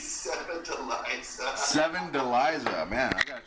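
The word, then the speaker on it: Sevdaliza: And how do you pronounce that again? I think it's Seven Deliza.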